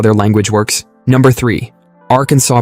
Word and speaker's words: Arkansas: Like how you don't pronounce the s in Paris.